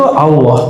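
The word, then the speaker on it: الله: dan u itu Allah jadi cara baca Allah bukan Allah Allah jadi A tapi cenderung kepada u a cenderung kepada u bukan Allah tapi Allah bacanya A tapi lidahnya ngarah ke u Allah Coba Allah sekarang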